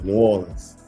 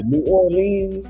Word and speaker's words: New Orleans: I think you pronounce it properly. New Orleans. Well, I could pronounce it with a twang now, but yeah. People say New Orleans.